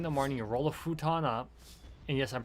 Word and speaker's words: futon: specific reason because i've if i've got my my f sound down correctly that's how it's pronounced in japanese not foo but on